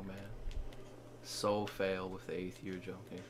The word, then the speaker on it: Aether: So fail with the Aether jumping. Ether jumping, I think it's pronounced actually. Ether. I'm pretty sure it's Ether. Yeah, it's probably Ether.